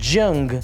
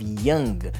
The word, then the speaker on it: young: So for you, my Spanish speakers, if you speak Spanish, young, that's not the correct pronunciation of young. You want to practice the Y sound because you're going to use it over and over in English.